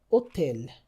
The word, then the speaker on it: hôtel: For example, hôtel hôtel, the H is never pronounced.